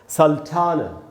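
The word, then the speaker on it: sultana: लेकिन इंग्लिश में क्या बोलेंगे, इंग्लिश में बोलेंगे सल्टाना। सल्टाना। अच्छा दोस्तों, एंड में जो ये जो ए है उसका उच्चारण आधा अ होगा, पूरा आ नहीं होगा।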